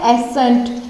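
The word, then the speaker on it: ascent: फिर नेक्स्ट वाला क्या है, एसेंट, ठीक है। एस का यूज, एस का प्रोनाउंसिएशन हम कर रहे हैं लेकिन सी को साइलेंट रख रहे हैं, एसेंट, ठीक है।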